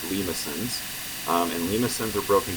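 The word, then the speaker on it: limaçon: these are called lisin so here's how it's pronounced lisin um and Lins are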